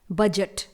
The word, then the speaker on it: budget: तो जी एग्जाम्पल में सबसे पहला वर्ड है बजट, स्पेलिंग है BUDGET।